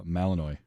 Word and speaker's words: Malinois: like three months of training those um uh Malinois um was just amazing that's how it's pronounced okay I was wondering and those dogs